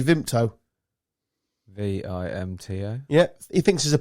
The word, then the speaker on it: Vimto: Why would there be a P in it? Well, he tried to catch me out, and I was a good few beers in at this point. Yeah, so you say it like as well. No, I don't. VIMPTO. Yeah, you're saying a P.